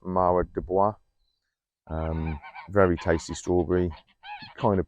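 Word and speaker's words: Mara des Bois: towers here the strawberry i think it's pronounced marwa dubois very tasty strawberry kind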